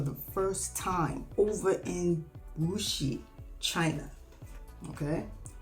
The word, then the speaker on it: Wuxi: I fell in love with food for the first time over in Wuxi, China. Okay, it's pronounced Wuxi, but yeah, that's where I fell in love and lost 30 pounds without even thinking about it.